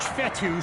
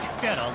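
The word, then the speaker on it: Fetu: on the way so coach fetty spelled f-e-t-u for the longest time i was pronouncing it coach fedo like feta cheese so let's just say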